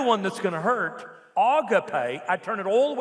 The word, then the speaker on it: agape: I hear it correctly pronounced agape.